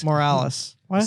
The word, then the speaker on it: Morales: You mispronounced that again. Morales. Morales. Why did I say Sound like you Moraz?